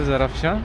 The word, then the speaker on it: Zarafshan: Maybe I have pronounced it before wrongly. It's Hotel Zarafshan, and in that hotel there is a hostel.